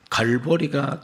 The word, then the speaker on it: 갈보리: 이것을 영어로 발음할 때는 갈보리가 됩니다.